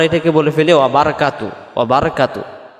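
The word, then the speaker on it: بركاته: ফেলি ওয়াবারাকাতুহ ওয়া বারাকাতুহ বারাকাতু পড়লে বার জবর বার হবে উচ্চারণ হবে ওয়াবার যেমন নয় দশ 11 12 এমন হবে কাতুহ পড়ি আমরা এই হুটা আমাদের উচ্চারণ বাদ চলে যায় এখানে যদি হু বলি দম ছাড়া যাবে না দমটা ছেড়ে দেওয়া বারাকাতুহ এমন হবে মানে তার তখন বারকাতু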